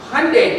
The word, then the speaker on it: Hyundai: Anybody has got so Hundaih the only one who has said correctly.